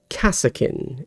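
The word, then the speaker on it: Kasrkin: Kassakin is how I would pronounce a correctly spelled word there, Eddie. But the way you've spelled it, I would pronounce that Carskin, because it's incorrectly spelled, yes.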